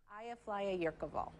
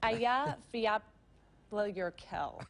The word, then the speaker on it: Eyjafjallajökull: when Eyjafjallajökull erupted in 2010 and nobody could pronounce it. Eyjafjallajökull. It's Eyjafjallajökull.